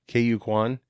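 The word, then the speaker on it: Ke Huy Quan: K.U. Kwan, who played Data.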